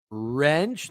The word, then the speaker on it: wrench: Wrench. The W is silent.